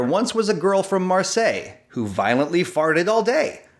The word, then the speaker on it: Marseille: end on solei uh maybe it's a french city that will rhyme with solei like marseille that's a french city so there once was a girl from marseille great now we have